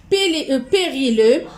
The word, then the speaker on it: périlleux: Périlleux, X ne se prononce pas, je vais l'écrire ici.